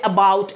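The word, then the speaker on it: about: কারণ ওরা ন্যাচারালি বলি এইভাবে এবাউট এবাউট বাউটে জোর দিয়ে বলে।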